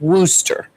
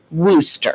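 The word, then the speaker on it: Worcester: So she said it's rooster. It's like rooster but with a w because I could never say the name right. So it's rooster. It's weird but it's spelled w o r. C e s. C e s t but it's rooster.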